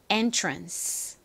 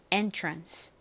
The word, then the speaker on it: entrance: entrance. ANCE가 UNS로 발음이 되죠. entrance.